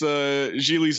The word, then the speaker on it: Gigli: Lewis is with him and he gets Gigli's name wrong, and Ben tells him it rhymes with really.